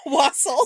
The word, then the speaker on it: wassail: Wassail. So I actually do carol, and we have a song, wassail, so we pronounce it wassail for the song. So that's how I know to pronounce it.